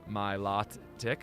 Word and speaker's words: Milotic: what what is up with that Milow tick Milotic ma Milotic Milotic yeah I know some people say it differently my lot tick okay we all say very differently uh Lon